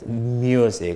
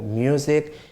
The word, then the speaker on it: music: Music, okay? So you say mew, not moo. Music, huge, humor, or cute.